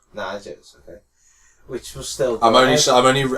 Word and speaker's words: Niger: They were staying there ahead of tomorrow's Cup of Nations qualified against the match against neighboring Niger. Niger. Niger. Okay. Which was still I'm only I'm only I'm only pronouncing it so you know how to say it and you don't get it wrong.